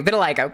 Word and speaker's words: vitiligo: Okay, vitiligo.